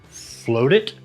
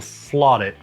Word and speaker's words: FLOTit: Down below, float it or flot it, however you want to pronounce it, FLOTit.